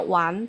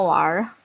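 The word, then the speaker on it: 玩: Ya, ini walaupun bacanya one tapi aku sering keseringan ngomongnya war. Tambahin r gitu. Tambahin er di belakang. One juga bisa sih.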